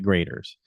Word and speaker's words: Graeter's: And everybody said you got to stop at graders. It's spelled g r a t e r apostrophe s.